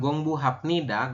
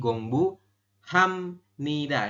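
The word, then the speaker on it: 공부합니다: bunyi jadi bunyi m jadi kita membacanya Bukan gongbu hapnida tapi gongbu Hamnida ini ya Hamnida seperti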